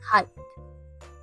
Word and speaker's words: height: bottom to the top how to say this word first we start with the H sounds like in the word h and then we add the a sound like in the word my a finally we end it